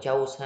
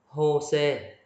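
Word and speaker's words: José: Đừng đọc là chose ha. Này là Jose. Chi hoặc là H ha.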